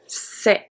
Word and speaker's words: c'est: So the C is a S sound. C'est. EST make the sound E.